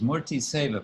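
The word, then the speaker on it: murti seva: then the swami says morty sava pronounce like tour t save uh morty means anything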